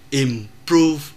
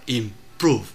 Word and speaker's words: improve: chúng ta phải biết chữ o ở đây viết là chữ o nhưng đọc là u. Chúng ta không thể đọc là impro mà phải đọc là improve.